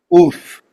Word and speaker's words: Ulf: Oof.